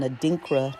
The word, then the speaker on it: adinkra: Ganan outfits which is purple which has an adinkra symbol on it and so I know I